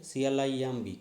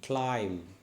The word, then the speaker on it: climb: m b m b actually this b is silent okay c l i m b climb climb okay b silent